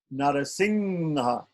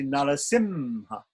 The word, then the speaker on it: Narasimha: So Anuswara is a pure nasal sound. It means nga. Say North India tends to be pronounced nga, and in South India, like Narasingha. Narasingha. We're getting Narasingha's appearance day is coming. Narasingha. So some people say Singha. In South India, they tend to pronounce it more like an M.